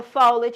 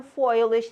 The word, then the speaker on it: foliage: if it rips out any of the foliage or foilage depending on where you from you know it's always